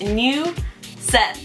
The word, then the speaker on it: Neuzeth: my middle name and the way you pronounce my middle name is new set imagine the word new and then the name seth and you said that's how you would pronounce in english and spanish